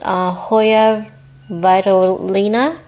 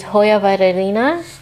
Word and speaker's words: Hoya Vitellina: So I believe it's pronounced Hoya Vitellina. Vitellina? You have to say it really fast to make sense. But it's Hoya Vitellina Splash.